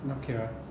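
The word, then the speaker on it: نكرة: How do you say it? Indefinite? Nakira. Nakira. Nakira. Noon. Noon, like this.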